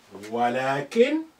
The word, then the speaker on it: ولكن: Walakin. But this lengthening alif, one of the few Arabic words that you omit from it the lengthening.